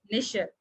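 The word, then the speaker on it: nicher: इसमें प्रोनाउंसिएशन पे विशेष कर ध्यान दे, निशर, ठीक है।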